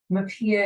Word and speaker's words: MHPAEA: MAPIA is, of course, how we pronounce the acronym for the Mental Health Parity, Addiction, and Equity Act.